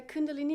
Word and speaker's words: Kundalini: Kundalini. Yeah, you say it. Kundalini yoga. What is that compared to other yoga that we might know from, like, YouTube yoga videos? They say Kundalini Yoga. Kundalini means like the live energy.